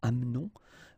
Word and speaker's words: amenons: It's a silent here, mute, amenons. Vous amenez, exactly the same thing, you don't pronounce this and then here back this change, so amène.